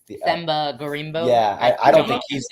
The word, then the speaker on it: Themba Gorimbo: Themba Gorimbo.